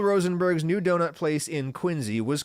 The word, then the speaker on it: Quincy: 1948 in Quincy Mass which is pronounced like a z Quincy not Quincy I don't know if